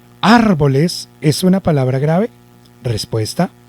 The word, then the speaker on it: árbol: Vamos a hacer de cuenta que llevara el acento en ar, porque lo separamos, ¿no? Árbol, la separamos por sílabas. Si lleva el acento en ar, yo diría, me encontré un árbol, árbol.